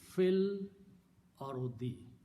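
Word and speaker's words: في الأرض: So the combined words becomes fil arudi. It is fi al ardu, but when you combine them, again you do not pronounce this alif here. Fil arudi.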